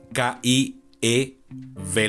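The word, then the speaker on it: Kyiv: Y eso es porque Kiev es la pronunciación rusa, la pronunciación y la grafía rusa de la capital ucraniana. En ucraniano, eh estoy seguro que voy a pronunciar esto mal, pero aún así haré mi esfuerzo. Aparentemente es Kiyif, es como se debería decir en ucraniano.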